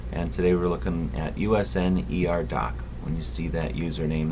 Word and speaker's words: Usnerdoc: And today we're looking at Usnerdoc. When you see that username, that's how it's pronounced. USN like the Navy, ER like emergency room, and doctor.